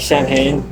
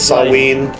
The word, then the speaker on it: Samhain: has his like his alter kind of like Samhain. However you pronounce it. He has his Samhain. Samhain.